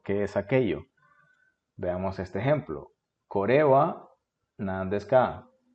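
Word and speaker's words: これ: Kore wa nan desu ka? No dije core, dije core. Esta frase se debe acentuar acá, en la segunda sílaba.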